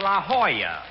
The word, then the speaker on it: La Jolla: auto course a rochester i found out that's pronounced la jolla it turned out to be a spanish word dog don't i should